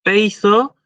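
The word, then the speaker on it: πείθω: Porque una cosa es peizo ¿sí? Con el acento en el diptongo ei, y otra cosa es peizó con el acento en la omega.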